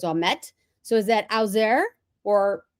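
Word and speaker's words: Ouimet: Now, see, if I have family members that are called, their last name is Omet, O-U-I-M-E-T, so it's Omet.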